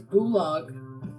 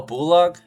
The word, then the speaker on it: Bolog: No, dude. It's Bulog. Oh, Bulog. Uh, how do you spell it?